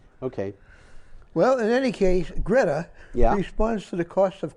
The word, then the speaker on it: Greta: i could duplicate it greta sounds more like gratara okay yeah so it's like four syllables toonberg is tunabella okay